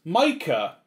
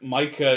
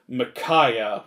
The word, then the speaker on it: Micah: some reason they think micah is a girl's name usually the way they mispronounce it though is makaya which that's a little more understandable than mika mika is just wrong